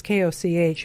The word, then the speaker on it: Koch: And that was confirmed by Anthony, I don't know if it's pronounced Coach or Koch, or Koch even, it's Koch, who is the comms guy for Pierre Poilievre.